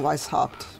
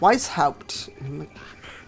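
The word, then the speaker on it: Weisshaupt: of how they're you're pronouncing Weiss hopped it's like wise hooped why must it be why can't it just be wise hopped hey Evo wanted me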